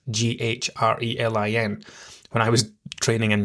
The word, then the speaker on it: ghrelin: Okay, your ghrelin goes up, leptin goes down. Now, I'm going to tell you the easy way that I remember these, right? Ghrelin has a silent H in it, Ghrelin.